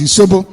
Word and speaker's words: Isobo: The original name is pronounced Isobo, I-S-O-B-O.